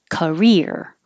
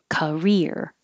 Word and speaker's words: career: Career. Career, which is similar to Korea with three syllables.